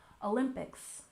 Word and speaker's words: Olympics: and finally we have Olympics with stress on the second syllable Olympics Olympics and of course you